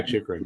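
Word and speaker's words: Chychrun: They were looking to shop Chikrin, I think is how you pronounce his last name. Yeah, Chikrin.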